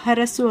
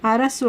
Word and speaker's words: ಹರಸು: ಆಗುವಂತೆ ಮಾಡುವುದು ಅಂತ ಅರಸು ಹರಸು ಅಂದ್ರೆ ಆಶೀರ್ವಾದ ಮಾಡು ಉಚ್ಚಾರಣೆ ನೋಡಿ ಅರಸು ಅಲ್ಲ ಹ ಅರಸು ಅಂದ್ರೆ ಆಶೀರ್ವದಿಸು ಇನ್ನು ಗೌರವ